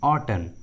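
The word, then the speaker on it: autumn: देखिए इस English word में एम का उच्चारण नहीं किया गया है। उसी तरह सोलेन, सोलेन, ऑटन, ऑटन।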